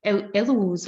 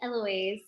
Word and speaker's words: Eloise: the next up is el ellos oh sorry i'm pronouncing your name badly that's all right it's eloise um yes thank you